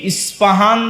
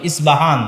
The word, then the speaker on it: ইস্পাহান: প উচ্চারণ করি ইসপাহান আরবিতে এটা উচ্চারণ হয় না আরবিতে হয় আল আসবাহানি বা উচ্চারণ হয় ইসবাহান বা আসবাহান সেখান থেকে 70 হাজার ইহুদি দাজ্জালের সঙ্গী হবে সাথী হবে এবং মুসলমানদের বিরুদ্ধে যুদ্ধ করবে।